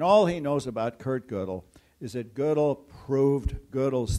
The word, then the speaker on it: Gödel: Gödel is spelled this way with an umlaut over the O, and it's pronounced Gödel.